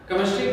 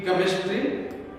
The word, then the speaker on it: chemistry: तो जब CH से जब इसकी उच्चारण हुई है, प्रोनाउंसिएशन में CH का मतलब क होता है। आखिर ऐसा क्यों? हम सब लोग इंडियन लोग यही जानते हैं कि केमिस्ट्री में CH का मतलब